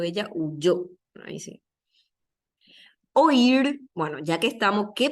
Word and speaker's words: oír: y es este caso oír es un caso de yato van en sílabas separadas Este sí tiene dos sílabas o ir así separ o ir